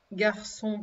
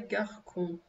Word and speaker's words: garçon: Garçon, comme il y en a plusieurs, vous mettez un S et vous avez un CCD parce que sinon ça se dirait garcon.